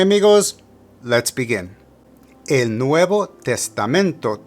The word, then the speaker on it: testamento: For testamento, put the emphasis of pronunciation on the penultimate or second to last syllable.